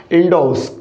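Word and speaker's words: endorse: इसका correct pronunciation होगा मेरे साथियों, क्या होगा? इंडोस।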